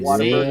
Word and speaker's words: Whataburger: Those of you know, Oh, in Texas, we got Man, Whataburger. see, you'll roll your R's, but you'll slander Whataburger. Here, Waterburger, man.